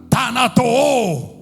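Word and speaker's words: θανατόω: Lo vuelvo a pronunciar. Tanato t h a n a t o tanato que significa dar muerte continuamente.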